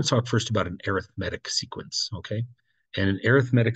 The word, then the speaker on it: arithmetic: descriptive word and so you have to put the emphasis on the other syllables and so um it is called arithmetic you kind of have